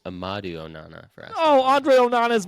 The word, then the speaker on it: Amadou Onana: Mason, I think you got the first name wrong. I believe it's Amadou Onana for Aston.